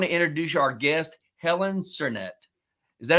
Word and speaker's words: Sernett: today I want to introduce Our Guest Helen cernet is that how you pronounce it cernet that is how you pronounce it yep Helen